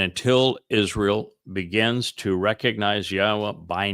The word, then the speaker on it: Yahweh: Meanwhile, on this occasion, making a transition and focusing on what follows, thusly Yahweh, which is the proper pronunciation of Yahweh, our Eloah, God, as